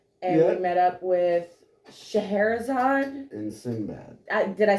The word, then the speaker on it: Scheherazade: And we met up with Scheherazade.